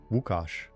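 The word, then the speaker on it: Łukasz: They or no, they uh pronounce it differently. Wukos.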